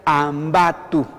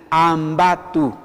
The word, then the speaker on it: ambatu: Entonces se pronuncia ambatu, así, ambatu. A ver, juntos conmigo, todos, ambatu. Ah, muy bien, así, ambatu. ¿Ya? La fuerza de voz en el quechua siempre está en la penúltima sílaba, no es como en el castellano.